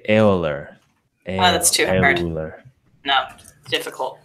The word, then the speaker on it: Euler: but it's actually like nobody in Germany would pronounce that way so I don't anyway Oh No wait wait wait say it say how they pronounced they would say eller that's charity learn no